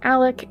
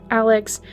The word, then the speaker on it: Alec: covering it appears that he pronounces his name as Alec instead of Alex but I wasn't really